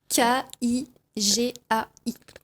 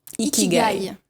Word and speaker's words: ikigai: I-K-I-G-A-I. Voilà. Et ça se prononce Ikigai.